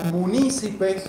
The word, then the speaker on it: munícipes: Los concejales, a su vez, tienen como sinónimo la palabra ediles, la palabra munícipes, con acento en la I, regidores municipales o magistrados locales.